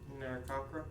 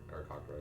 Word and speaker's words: Aarakocra: See, I think it's in, how do you pronounce it, Aarakocra or Narcockra? Aarakocra, yeah. Mm-hmm.